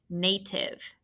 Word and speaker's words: native: All right, the first syllable should have been easy. That's open. Nay is N-A. Did you remember T-I-V-E? This one has that I-V-E, give, iv. and that is our vowel consonant E exception.